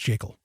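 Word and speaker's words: Jekyll: it's the creature from jacel Island yes it's pronounced jacel and in that book gever Griffin clearly states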